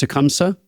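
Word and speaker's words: Tecumseh: It's pronounced Tecumsa.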